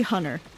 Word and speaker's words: Hunter: Depends on the Or- situation, but like my preferred name, Hunter, no one says the R in that name. It's usually Hunter. That's how people say my name.